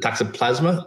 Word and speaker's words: toxoplasma: The toxoplasma, is that the right?